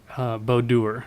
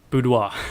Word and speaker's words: boudoir: so she actually does I always say this wrong bow doer no way no sorry boudoir let's see I told